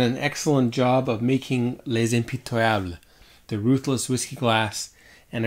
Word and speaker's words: Les Impitoyables: to practice with listening to the the Google pronunciation so here it is turn it up for you there we go lays MP table alright so let's see how this tastes how